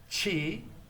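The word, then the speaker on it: ち: Chi is C-H-I. The T gets such an emphasis on the aspirated point.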